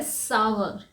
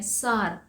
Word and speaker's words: sour: खट्टे को कहा जाता है सावर, सावर। लेकिन हम इसे क्या कहते हैं? सार, क्योंकि इसमें SOUR सार है, इसे हम बोलते हैं सार, लेकिन इसका सही प्रोनाउंसिएशन है सावर, सावर।